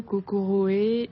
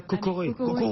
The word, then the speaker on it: Kokoroe: Japon ils disent bien cocoré disent COC voilà le R est un peu roulé c'est ça bon plus